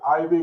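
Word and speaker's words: Iveagh: I think built by the Guinness family originally, but um it's a very it's a very nice place, but it's the Ivy Gardens. That's the Dublin pronunciation.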